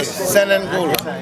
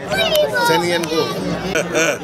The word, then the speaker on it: Senehun Ngola: Senehun Ngola. Senehun Ngola.